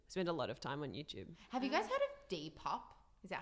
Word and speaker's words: Depop: Have you guys heard of Depop?